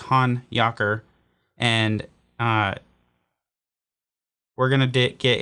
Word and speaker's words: Honyocker: around saying hanyaker hanayaker i've seen the name heard the name butchered a million different times by a bunch of different people but rest assured it is han yakur and uh we're gonna